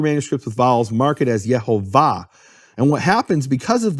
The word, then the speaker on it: Yehovah: the of the word the emphasis of the word is in the final syllable it's marked that way